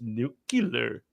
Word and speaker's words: nuclear: It's pronounced nuclear.